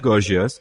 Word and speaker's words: Gorgias: Start quote, in the Gorgias, is that the right way to pronounce it? Yes, good. In the Gorgias, Socrates is presented as asserting something so radical that his hearers think it has to be a joke.